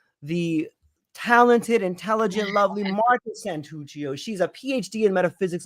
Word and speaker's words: Santuccio: Marta Santuccio, am I pronouncing that accurately? Yeah. Santuccio?